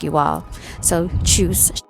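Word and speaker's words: tschüss: i'll say alvita sin or choose choose is a very informal way of saying goodbye or see you later and it's spelled t-s-c-h-u-s-s with the exclamation mark you all so choose you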